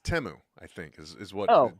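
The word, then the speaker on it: Temu: it it's aluminium aluminium uh it's actually it's pronounced temo I think is is what temo it's it's not teu that is temo and that's what the whole commercial existed as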